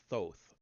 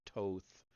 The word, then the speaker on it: Thoth: The god believed by the ancient Egyptians to have taught the principle of astronomy to their ancestors was Thoth, or Toth, or Thoth, however you prefer to pronounce it.